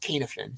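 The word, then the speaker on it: Cynefin: about this is the canif it's called it's pronounced kanefen c-y-n-e-f-i-n k-n-f-n framework a gentleman named david snowden who was an ibm researcher uh put this out probably maybe 20 years ago if you google kanefen framework snowden like a short 10 minute video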